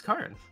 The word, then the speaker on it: Karin: Oh hey, the Italian pronunciation of Karin is Karin. Oh my god, it actually is.